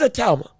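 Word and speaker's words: Itauma: No, it is a talma.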